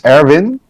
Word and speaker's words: Erwin: No, the Dutch pronunciation is Erwin, Erwin? as Erwin, Okay. with emphasis on the R, but not really. Okay. But Erwin works as well.